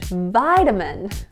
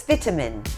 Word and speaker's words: vitamin: The next word is in American English, vitamin. And in the UK, it's vitamin. And then again, very clear pronunciation on the T sound. Yeah, hit that T hard, Yes.